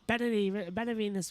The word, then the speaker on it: Benavides: I will pronounce it Benavides from now on.